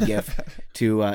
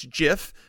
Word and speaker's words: GIF: pronounce it is like the creator of them said it's jiff but I refuse to say it that way yeah and like if